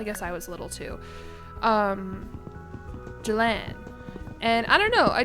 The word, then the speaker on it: Jillian: Is Jillian pronounced Jillan or Jillan? I say it like Jillan.